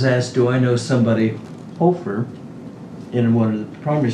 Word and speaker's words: Hoefer: 20, after 23 times, our name is pronounced as if the H-O were a W-E. It's Hoefer. Yes, I've heard that.